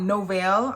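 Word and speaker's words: Novél: so this one's called novelle i'm going to say novell even though it's spelt like novel so this fragrance is the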